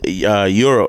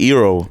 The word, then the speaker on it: gyro: It's not pronounced gyro. It's pronounced gyro here. New York is yeah, gyro. we say gyro because I it's think a gyro. But as a Greek person, we're like, no, it's euro, like euro.